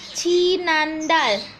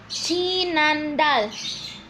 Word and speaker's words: 지난달: Bahasa Korea dari bulan lalu adalah 지난달. 지난달. 지난달. 한번도 지난달. Nah, gimana sih cara menulis 지난달 yang benar? Perhatikan ya, Rabun. Jiet, i, nien, a, nien, diget atau sang diget, a, til. Nah, 지난달.